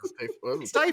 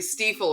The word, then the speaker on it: Stifel: Yeah, your pronunciation of this makes it sound like an on-demand tissue delivery service. Right. I only know because it's in my industry. Stiefel is what it's called. Yes. Stiefel.